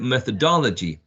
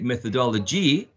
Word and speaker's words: methodology: Okay, for example, 62, methodology. But if you say methodology, shifting the stress may have more impact on what the listener is going to understand.